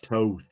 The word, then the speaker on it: Toth: It's Toth.